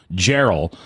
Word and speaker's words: Geral: For once, I'm not pronouncing it wrong. Geral, last name.